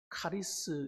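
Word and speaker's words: χάρις: 은혜라는 말은 여러분 헬라어 원어에 보면 카리스 이렇게 말합니다. 한번 따라합시다. 카리스. 예, 카리스라고 해요. 잘하시네요.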